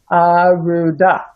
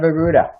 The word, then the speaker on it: Arudha: It's Arudha instead of Arudha.